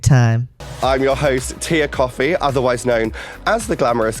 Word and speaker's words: Kofi: I'm your host, Tia Coffee, otherwise known as the Glamorous Geek. Tia Coffee. Okay, so she pronounces it coffee.